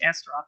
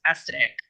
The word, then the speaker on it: Astaroth: She told me it's not pronounced Astaroth; it's pronounced Astatic.